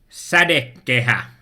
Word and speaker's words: sadekehä: So it's Sadekehä. And I think it uses some vocals that you are not used to.